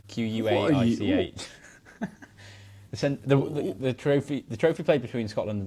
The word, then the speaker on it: Quaich: The Centenary Quack. No, Quake. Quaich.